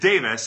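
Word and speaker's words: Tewes: another fun one because his last name is tuies t-e-w-e-s but he pronounces it davis and michaelis is a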